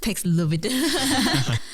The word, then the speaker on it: Paxlovid: I guess it sounds like COVID at the end. So it's Paxlovid.